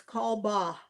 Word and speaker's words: Kalbach: The C is silent, so it's Kalbach.